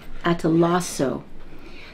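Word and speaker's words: καταλλάσσω: It actually starts with a K, but it's pronounced atalasso.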